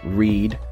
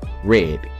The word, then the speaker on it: read: same spelling as Reed but in this combination the a is still silent but the E takes on a short form and you will get which now we pronounce read read it can be the